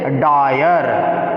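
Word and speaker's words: dyer: का उच्चारण जो है, वाई का प्रोनाउंसिएशन हम लोग जब आय करते हैं, क्या करते हैं, आय, ठीक है। जैसे डायर, क्या हो गया, डायर। देखिए यहाँ पर वाई का प्रयोग किया गया है, यूज किसका किया गया है, वाई का, लेकिन हम लोग का प्रोनाउंसिएशन क्या है, आय है, ठीक है।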